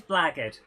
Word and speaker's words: blackguard: what is zoe put jenny how'd you say blaggard it is blaggard but so many people think it's spelt uh so it's big it's pronounced blackguard